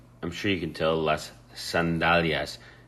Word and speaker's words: sandalias: I'm sure you can tell las sandalias. The key here is pronouncing it correctly. Las sandalias, not sandalias.